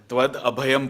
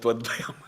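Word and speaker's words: tvad-abhayam: It is Tvad Abhayam Pashe. I pronounced that Tvad Bhayam. It is completely opposite.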